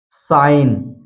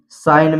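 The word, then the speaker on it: sign: नहीं पढ़ा जाता है जैसे साइन साइन में आप देख सकते हैं यहां पर एन से पहले जी आया है इसलिए यहां पर जी साइलेंट है सीधा पढ़ा गया है साइन इसी तरह डिजाइन रिजाइन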